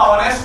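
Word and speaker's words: honest: इन्होंने तुरंत फिर मुझे समझाया, बोले इसमें हॉनेस्ट नहीं होता, ऑनेस्ट होता है, साइलेंट होता है।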